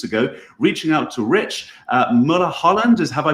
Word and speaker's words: Mulholland: And that's exactly what I did a few weeks ago, reaching out to Rich Mulholland. Have I pronounced your name correctly, Rich?